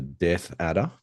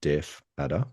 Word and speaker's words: death adder: The death adder. Yes. Um, sometimes people mispronounce that as a deaf adder because they do Yeah, it's appear to not.